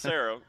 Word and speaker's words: Serra: Pronounced Sarah, but it's spelled Serra.